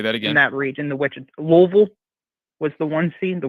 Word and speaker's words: Louisville: well le your forget the i s and then replace the v and replace the i in vil with an louisville okay well it doesn't make sense i know but that's the way they pronounce their city okay so i'm gonna